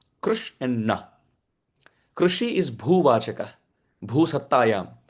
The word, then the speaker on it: Krishna: In the Udyoga Parva of Mahabharata, this has been quoted by Bhagwan Vyasadeva, that the word Krishna has two syllables, Krish and Na.